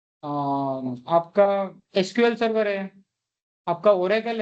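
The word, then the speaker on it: Aurora: का proprietary database है ओरा ओरा है ना ओरा औररा नहीं ओरा ए यू आर ए आर ओ आर ए ऐसा कुछ स्पेलिंग है क्लियर है?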